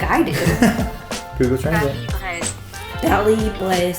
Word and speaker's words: Paris-Brest: I don't know how to pronounce it. Oh, like I do. Google Translate. Paris-Brest. Paris-Brest.